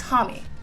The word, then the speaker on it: Homme: influence, ala Josh Homme, is it Josh Homme-y? Hold on, let me look it up really quick. Pronunciation. I feel I've listened to so many interviews, and I still don't know how to pronounce his name. I feel bad. It's Homme-y. Okay, cool, cool, cool. Okay, my bad. I was totally saying that wrong.